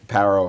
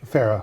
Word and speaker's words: Pharaoh: to get the gold par far parro how do you say that in English Pharaoh Pharaoh thank you Pharaoh uh offered uh